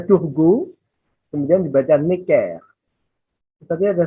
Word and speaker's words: Turgot: Brienne lalu dibaca Turgot, G ya, bukan je tapi G. Bacanya Turgot, kemudian dibaca Necker.